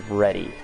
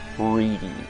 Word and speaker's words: Ready: My last name is Ready, and it is spelled as it is read, so it is R-E-A-D-Y. And I grew up with fucking school teachers reading it off as reedy.